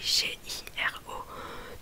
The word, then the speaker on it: giro: Et par exemple Giro, qui veut dire visiter, ça s'écrit G-I-R-O.